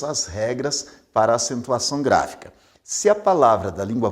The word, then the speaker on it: gráfica: A palavra gráfica é uma proparoxítona, porque a sílaba mais forte, a sílaba tônica, é gra, a primeira sílaba, a antepenúltima sílaba no caso.